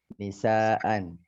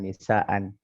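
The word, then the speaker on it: نساءً: lumayan itu yang sawaan, nisaan, binaan. Itu panjang ejaannya. Ya. Itu ada mad munfasil, ada mad muttasil, ada juga dia itu mad iwad dibacanya nisaa kan bukan nisaan. Nisaan nanti panjang ejaannya ya.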